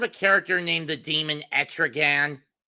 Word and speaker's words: Etrigan: You ever heard of a character named the demon Etrigan? Erdogan, yeah. It's pronounced Etrigan.